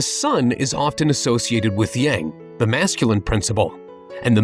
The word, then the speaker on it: yang: as yang and yin i remember it because yang masculine rhymes with wang clever right whatever it